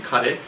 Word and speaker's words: カレー: Karee, of course, being curry, the way you pronounce it in Japanese, karee.